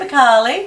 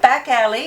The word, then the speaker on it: Bakali: Yeah, Bakali. Not back alley, like some people call it back alley or Bakali.